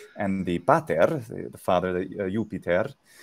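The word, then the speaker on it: Iuppiter: the pater the father yupiter yupiter is normally how it would be so yeah with a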